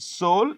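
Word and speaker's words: Seoul: But in which two cities highest number of passengers move in South Korea you know the capital is called soul the e is silent soul and there is a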